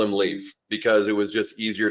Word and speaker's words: Leif: it even though we will still call him Leaf in the in the house and when we're hanging out with him but yes technically 100% it is Lea L A YF as far as pronunciation goes can I get you